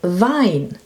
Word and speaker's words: Wein: And EI is pronounced I.